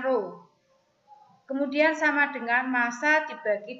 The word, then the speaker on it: rho: Rho atau massa jenis, ini bacanya rho.